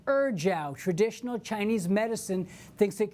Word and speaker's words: ejiao: EJIAO, pronounced Erjiao.